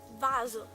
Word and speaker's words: vaso: So, when the S is between two vowels, normally you pronounce Z. For example, vaso, vase, viso, like face, caso, case.